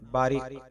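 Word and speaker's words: Bariq: शुक्रिया आज की वीडियो का पहला नाम है बारिक यह नाम अरबी जुबान से ताल्लुक रखता है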